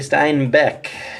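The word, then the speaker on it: Steinbach: be wrong but uh Terry Stein Beck is how it's pronounced so that's cool nice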